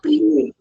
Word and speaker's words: pluie: Non, pluie. Pluie. Pluie. Tu dois faire U et I. Alors ta bouche doit faire vic.